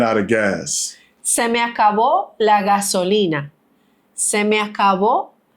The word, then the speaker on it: acabó: So you got to say, it ain't acabo, it's acabó.